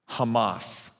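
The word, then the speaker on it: חמס: I'm going to pronounce it for you from the original language. You ready? Hamas. Now, in Arabic, it's more of a compliment. They translate it as zeal.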